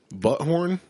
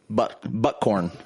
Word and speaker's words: Buckhorn: Butthorn? Buckhorn. Buckhorn Podcast. Buttcorn. Buttcorn. Buttcorn. That's how my 6-year-old pronounces it.